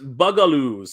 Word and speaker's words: Bugaloos: It's pronounced Bugaloos.